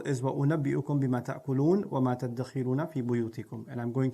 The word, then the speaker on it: تَدَّخِرُون: Now, the word dakhar, تَدَّخِرُون, is actually dhakhar with a dha. تَدَّخِرُون becomes تَدَّخِرُون. This is a principle in sarf where you fuse letters together that are similar in pronunciation.